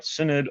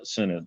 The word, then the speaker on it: Synod: and and and but she tore up that picture that's an easy way to remember how to pronounce Synod sorry go ahead yeah